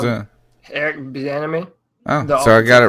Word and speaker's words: Bieniemy: Tell me how to pronounce it. Eric Bieniemy.